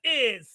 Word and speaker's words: ay: Yeah, it's universal. Yeah, it's universal. It crosses borders. In Spanish, it's pronounced I, A-Y.